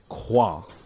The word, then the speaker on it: Crouin: That is Victor Qua. I I hope I didn't butcher that. Is is the correct French pronunciation.